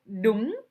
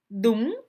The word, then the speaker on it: đúng: Le nouveau mot ici, c'est le mot đúng. Đúng, qui veut dire correct. Ou bien, c'est ça. Đúng. Dans la prononciation, đúng, c'est un accent montant.